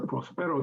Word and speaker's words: Prospero: Although the accent is on the first O, Prospero.